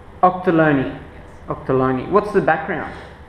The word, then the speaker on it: Ochterlony: Octoloni. Octoloni.